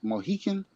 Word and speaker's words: Mohican: I think I'm pronouncing this right. The Mohican, no, Wait a minute. Mohican?